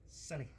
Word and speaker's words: Sony: Sonny.